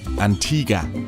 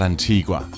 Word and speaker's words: Antigua: again that was before I learned that it's pronounced Antiga and not Antigua which is what you would think when you